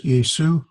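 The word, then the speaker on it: Ἰησοῦ: Well, it would be pronounced as the first letter is this is a capital iota. So there's E, A, sus, Jesus. It's a smooth breathing. Jesus, Yesu, ha.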